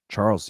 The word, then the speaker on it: Charles: He also fought in TKO where Charles used to fight. Or Charles. Do you say it like Charl? You don't say the S, right?